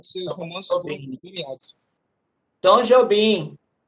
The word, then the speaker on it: Tom Jobim: Tom Jobim. É Tom Jobim a pronúncia.